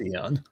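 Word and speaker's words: Aeon: it I agree that that's the word is pronounced Aon yes it is it is but people also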